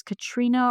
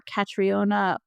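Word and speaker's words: Caitríona: I don't know how you pronounce it, if it's Katrina or Catriona Belfi. I think it's Katrina.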